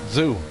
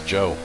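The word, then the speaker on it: Zhou: i need to know how the voice lady in chat is gonna pronounce the name zoo go for it zoo she got it that's not right it's joe joe this is really cool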